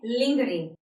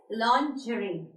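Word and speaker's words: lingerie: ई आर आई ई इस word को generally हम प्रोनाउंस जो इसकी प्रोनंसिएशन है वो हम करते हैं लिंगरे but this pronunciation is wrong the correct pronunciation of this word is लजरी the correct pronunciation is लॉन्जरी लन जर्नी ओके इट इज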